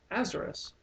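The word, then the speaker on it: Aesarus: Um, the thing is though, a lot of people have noticed that Azerus is the Egyptian pronunciation of Osiris.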